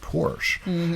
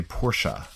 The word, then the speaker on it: Porsche: r CH d and a lot of Americans wrongly pronounced at Porsche it's actually Porsche oh sure sure I thought this was pronounced pores maybe i watch American